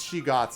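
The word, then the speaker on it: shoggoths: true lone wolf well i think it's she gots is how they pronounce it but yeah shogoths in bloom right there's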